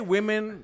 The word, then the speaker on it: women: We say women like Yemen.